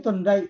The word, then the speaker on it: Thorndike: Nah, Thorndike itu Thorndike bacanya. Thorndike. Iya, Pak.